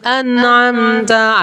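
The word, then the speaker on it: أنعمت: Nah, ketika huruf ta sama seperti huruf ka. Nah, cara bacanya nggak hanya sekedar tak, tapi ta. An'amta kayak lemes.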